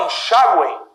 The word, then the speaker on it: enxáguem: A palavra enxáguem recebe acento. Enxáguem. Sílaba tônica, penúltima.